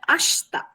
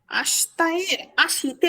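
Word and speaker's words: 明日: ঠিক আছে আকারুই এর আকাতে বসবে এই উদাহরণটা আমরা শিখবো আকারুই আকারু আকাতে বসবে গাঞ্জিটা ব্রাইট উজ্জ্বল আরেকটা উচ্চারণ আছে এটার যেটা হচ্ছে আসতা এটা লাগবে আসতাতে বসে তাজি আবার কিসের দিনের কাঞজিটা না স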